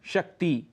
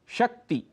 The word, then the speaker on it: शक्ति: छोटा दीर्घ अर्थात बड़ा हम कहते हैं शक्ति जबकि शुद्ध उच्चारण है शक्ति छोटा ई जिसे कहते हैं हम ह्रस्व ई शक्ति कांति शुद्ध उच्चारण है कांति